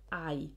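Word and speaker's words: hay: you need the word i i know that's a strange pronunciation for us looking at h a y but that's i there is all there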